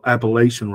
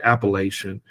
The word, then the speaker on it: appellation: laugh or or joyful that's the Appalachian rather pronounce the word correctly appellation um for me is